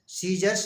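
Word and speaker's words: scissors: I double S ओ आर एस इसको पढ़ेंगे सीजर्स सीजर्स मीस कैची अगला एम यू एस सी एल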